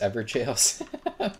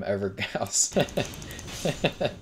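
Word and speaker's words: Evergaol: Oh, are they pronounced Everjails? I've been calling them Evergals.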